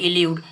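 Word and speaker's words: elude: अब इल्यूड इसको पढ़ा जाएगा एल्यूड, इसको पढ़ा जाएगा इल्यूड।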